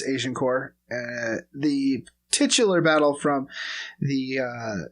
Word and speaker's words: Agincourt: I also want to do the Battle of Agincourt, which I just learned is the appropriate way of pronouncing the Battle of Agincourt, but it's Agincourt.